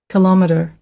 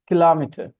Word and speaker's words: kilometer: this one different pronunciations kilometer kilometer kilometer okay the stress is now on the second syllable kilometer kilometer kilometer kilometer kilometer